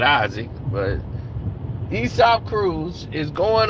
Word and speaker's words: Isaac: Now, you got the guy Aesop, which is Isaac Cruz. Isaac Cruz, in Spanish it's called Aesop, but we call it Isaac.